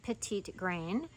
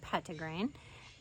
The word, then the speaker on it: Petitgrain: is shining on pedigree now it looks like petite grain you might hear it pronounced that way or petite grain but I pronounce it pet to grain um it comes from the same tree as